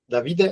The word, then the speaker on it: Davide: Davide is the correct pronunciation? Davide. Yeah, you stress the first letter usually in Italian.